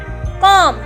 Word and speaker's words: comb: For example कॉम, अब यहाँ पे स्पेलिंग है COMB, तो हम इसे ऐसे तो नहीं बोलेंगे कॉम। B को हमें साइलेंट करना है क्योंकि M के बाद B है और B के बाद कोई भी लेटर नहीं है, सिर्फ B है।